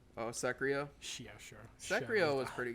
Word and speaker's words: Sekiro: Psycho? Oh, Sekiro?